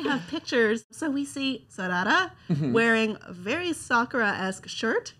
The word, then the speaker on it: Sarada: Naruto's son, Boruto, which Xander is better at pronouncing than I am, and Sasuke and Sakura's daughter, Sarada. Nailed it. No. Sarada.